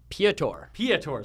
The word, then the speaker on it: Piotr: We have, oh, my God, Peter Holman. Piotr. So that's wrong. Yeah, it's not Peter.